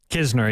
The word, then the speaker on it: Kisner: I know, but when you have a KN in the English language, the K is silent and you say the N, and this is the other way around, and it keeps tripping me up.